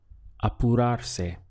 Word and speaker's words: apurarse: The verb used in Spanish to hurry or to hurry up is apurarse. We have syllables of a-pu-rar-se, apurarse.